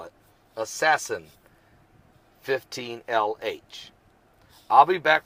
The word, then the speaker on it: ASASSN: Cosmo collision and they're even using the name assassin ASAS SN assassin that's how they spell it assassin 15 LH I'll be back with more current